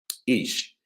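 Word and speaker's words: איש: The word ish, okay, because we know according to Hebrew grammar, they're saying that the word, that the aleph is actually silent. So we have the word ish, and it's spelled the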